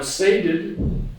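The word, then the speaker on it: sated: very important H unfulfilled now saded is going to rhyme with plated plated so we have to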